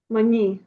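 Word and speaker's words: maní: А де наголос? Мані. Мані.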